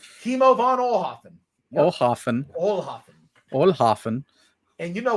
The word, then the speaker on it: Kimo von Oelhoffen: Kimo von Oelhoffen. Kimo von Oelhoffen.